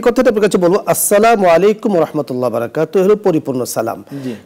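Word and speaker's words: السلام عليكم: উপরে শান্তি দিবেন তো এই সালামটা আমাদের অনেকেরই স্পষ্টভাবে যেহেতু আরবিতে এটা পরিষ্কার উচ্চারণ আমরা পারি না এবং দুঃখজনক বিষয় হলো অনেক সাহিত্য এবং অনেক নাটকের মধ্যেও এটাকে ভুল ভাবে উপস্থাপন করা হয় যাতে করে এর কারণে অনেক মানুষ ভুলটা শিখে যায় তো এজন্য আমাদেরকে সঠিকটা শিখতে হবে আসসালামু আলাইকুম ওয়া রাহমাতুল্লাহ সুন্দর করে আরবিটা উচ্চারণ করতে হবে তাহলে ওই ফজিলতটা পরিপূর্ণ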